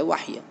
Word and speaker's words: وحی: وحی بھی کہتے ہیں لیکن اصل تلفظ ہے وحی.